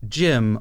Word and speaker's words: GM: And then the J, I think, is a shortening for like James, whereas the Jim, although it's spelled GM, is pronounced like the name Jim, which again is short for James.